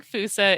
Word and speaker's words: fossa: So saying Foosa is not wrong, even though it looks wrong. So it's basically a dialect thing as to how you want to talk about the species. So Foosa is often also pronounced in the Malagasy way, just because of the